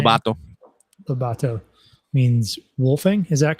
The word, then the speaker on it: Lobato: Lobato means wolfing.